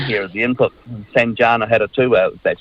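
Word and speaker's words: Sanjana Hattotuwa: He's tried very hard on multiple times to score own goals, but what I'm missing here is the input from Sanjana Haratua, that's how you say his name, and Kate Hanna.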